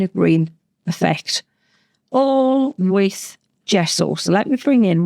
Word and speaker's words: gesso: is this guy here, your white gesso or gesso. I say it like that. The best Italian accent because gesso is uh Italian for gypsum or chalk.